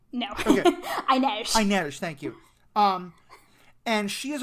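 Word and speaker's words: Inej: Am I pronouncing it right? It's No. Okay. Inez. Inez, thank you.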